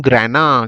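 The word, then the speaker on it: grana: bunch को बोलेंगे हम ग्रेना क्या बोल देंगे ग्रेना जी आर ए एन ए ग्राना बोलते हैं ठीक है थोड़ा दोस्तों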